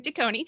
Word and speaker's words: DeKoning: DeKoning, Dianne DeKoning.